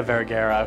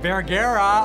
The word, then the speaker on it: Vergara: Sofia Vergara. Vergara? Oh no. Jesse called her Sofia Vergara. He said my name wrong.